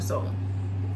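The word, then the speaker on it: Sol: I'm gonna call him Soul, and I'm gonna spell it like the girl from Love Island, like S-O-L, but that's what he calls himself, Soul, like something to Soul.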